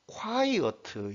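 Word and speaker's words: quiet: 다음에 이 티 하우스 버트 소리 라는 겁니다 콰이어트 요렇게 되는 거죠 2 이 단어는 이제 발음 쿄 가 이렇게 음절이 요렇게 나뉘는 것은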